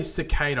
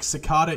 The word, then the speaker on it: cicada: than why I said it if I say cicada I sound like an idiot like Secada is how it's pronounced where I live in Australia look it